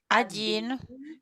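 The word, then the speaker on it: один: a soft soft consonant number one is adenine adin and here is a pronunciation for you or sometimes we say raz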